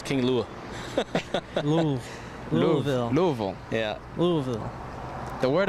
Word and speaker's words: Louisville: Love Louisville.